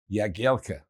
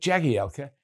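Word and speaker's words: Jagielka: That of the former England defender Phil Yagielka. Universally known in the game as Jaguar. Phil came up with a simple solution. He told his family, who used the correct Polish pronunciation, that Jaggy Elka is his stage name, and there aren't many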